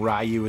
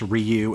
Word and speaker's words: Ryu: Right, I always called him Ryu as a kid, and now I know it's pronounced Ryu, and it's really hard for me to go back.